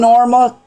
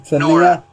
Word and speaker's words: Nora: And friend Norma, how you pronounce it? Nora. It's Nora.